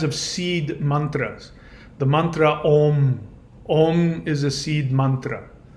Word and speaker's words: Om: Om is pronounced Om.